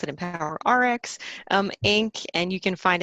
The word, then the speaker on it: EmpoweRx: a LinkedIn page it's empower X and we pronounce it empower our X Inc and you can find it through any